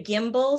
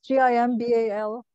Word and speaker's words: gimbal: And it's a gimbal, so you get a very smooth camera movement.